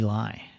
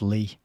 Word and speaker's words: Lie: first Secretary General trivy lie imagine putting a man in there whose last name was Lie oh actually it's pronounced Lee that's what it says